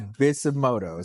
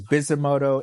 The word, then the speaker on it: Bisutomodo: So the pronunciation of it is Bisutomodo. So the T is actually silent in it. So it's Bisutomodo Entertainment, right?